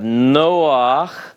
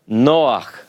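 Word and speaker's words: נֹחַ: particular name, No, see the noon gives us the N sound, and then we have the holem, which is the long O. So we have Noach, Noach. This is how you spell the name Noah in Hebrew. It's a little more guttural than our English translations generally present it.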